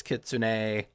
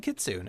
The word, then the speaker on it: kitsune: I know conventionally it's kitsune, but I've always said kitsune and I think it's funny to say that cuz you know people will be like that's not how you say it.